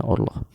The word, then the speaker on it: oorlog: Oorlog itu tulisannya Oorlog. Oorlog, dibacanya Oorlog.